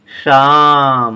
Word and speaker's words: श्याम: यहाँ जीभ तालू के पास स्पर्श करके श्याम ने कहा तभी यह सही है।